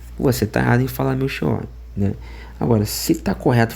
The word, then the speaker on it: Melchior: Agora se não se tá certo escrever com ch e você não fala meu xó, então você tá errado em falar meu xor, né? Agora, se tá correto falar meu Kor, por que que se